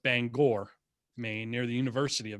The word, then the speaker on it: Bangor: fairly far north up near bangor uh not pronounced bangor pronounced bangor maine near the university of maine but uh